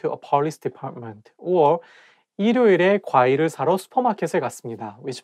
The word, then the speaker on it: 일요일: If you read it syllable by syllable, you can say 일요일, but when you say it as a one word, you have to connect it together and say 일요일.